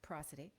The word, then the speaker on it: prosody: I like prosody because it sounds like prose, sounds like poetry and prose, but it's pronounced prosody.